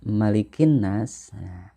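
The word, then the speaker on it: مَلِكِ النَّاسِ: yaitu melihat kinnas nah pada kalimat malikinnas ada kata malikin nasna Jangan sampai ada yang dipanjangkan ini Kadang kita suka tertukar dengan surat yang lain dalam surat al-fatihah misalkan ya kalau di surat Al Fatihah ada kalimah Melik yaumid diin mamanya dipanjangkan Kalau yang ini tidak ya tidak ada huruf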